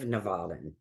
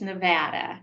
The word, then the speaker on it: Nevada: It's Nevada, like Nevada. Come to Nevada.